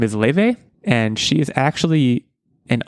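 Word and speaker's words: Laufey: It's pronounced Le, but it's like a weird Icelandic pronunciation, so it's actually spelled L L A U F Y.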